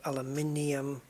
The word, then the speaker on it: aluminium: make sense don't they cuz aluminum sounds like potassium potassium aluminum but then you've got aluminium with sodium geranium so yeah 2.4 ruthenium I